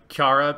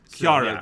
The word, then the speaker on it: Chara Soon: yes it's it's yeah i'm gonna call her uh kiara because that's how they pronounce it in japanese so it's just like